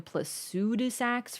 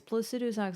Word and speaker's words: Placidusax: What is the connect correct pronunciation of Placidus? Probably Placidus. Um, but I had a big habit of calling him Pludus for a while and everyone's like, "It's Placidusax."